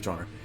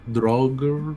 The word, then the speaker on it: Droger: The pronunciation is droger, but it was enough.